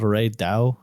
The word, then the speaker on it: Reydau: It's called Ray Dao, like DAU, Ray Dao.